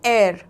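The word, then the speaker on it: heir: है यहां पर अगेन एयर में एच साइलेंट हो जाता है और हम आवाज निकालते हैं एर ओके तो ई से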